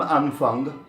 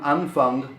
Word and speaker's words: Anfang: Im Anfang, Anfang is beginning, of course, in any context, and you must be conscious to pronounce that G a little bit throatier than an American would. Im Anfang. Im Anfang.